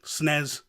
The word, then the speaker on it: SNES: with the SNES classic that is the proper way to say it snez no SNES classic there